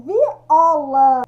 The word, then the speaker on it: viola: Quando eu falo viola, é paroxítono ela, né? É a penúltima sílaba aqui, vermelho. O O é mais forte, ó, viola, tá?